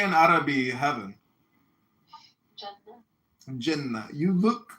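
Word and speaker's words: جنة: Jannah.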